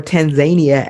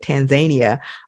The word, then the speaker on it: Tanzania: there while we're in Tanzania we or Tanzania at the locals say at Tanzania um we'll visit with